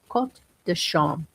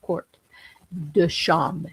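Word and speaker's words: Quarts de Chaume: Quot dasham. Court spelled like court, like a quart of milk. It's spelled court dasham. C h a u m e.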